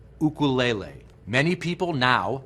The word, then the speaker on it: ukulele: To appreciate the history and cultural roots of this beautiful instrument, let's first clarify that the Hawaiian pronunciation is "oo-koo-lay-lay." Many people now pronounce it "you-kuh-lay-lee."